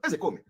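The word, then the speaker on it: Ozekhome: You know, people are laughing when I call him Ezekome. Ezekome is the pronunciation.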